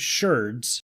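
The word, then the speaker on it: sherds: I'm saying shards because I found out, even though it's spelled shards, yeah, it's still pronounced shards.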